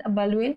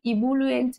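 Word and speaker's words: ebullient: সো হি হ্যাজ অ্যান আবালুয়েন্ট temperament. এখানে কিন্তু রয়েছে বলে যে তুমি ভাবছো ইবুলুয়েন্ট বা দিয়ে শুরু হবে এমন কিন্তু নয়, আবালুয়েন্ট এর প্রোনাউন্সিয়েশনটা হয়।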